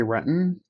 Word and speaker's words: Renton: There's a suburb called Renton, and no one says Renton, they say Renton. Mm-hmm. And if anybody says Renton, then, oh, where are you from?